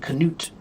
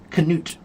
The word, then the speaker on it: Knut: or Norway, maybe you'll meet a guy named Canoot. Canut Knut. They still pronounce it with the knoot.